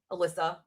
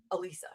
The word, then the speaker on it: Alisa: I'm like, "Okay, there's no H in my name. There's not two S's. There's no Z. So, I don't know where they got Eliza from. Alisa, it's not that hard."